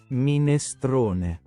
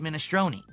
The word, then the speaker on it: minestrone: That's the Italian pronunciation.